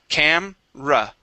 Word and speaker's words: camera: the uh the uh e there in the word is actually um omitted okay or we do not pronounce it okay uh we say